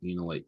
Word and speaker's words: enolate: introduction to enolates and enolate chemistry okay so this is pronounced again in there's that e n that we as chemists all pronounce as in even though it like is missing an e um enolate okay so